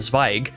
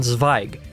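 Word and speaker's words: Zweig: about the fact that EI in German is an i sound and not you know z z was how I kept on pronouncing the last name before' why did you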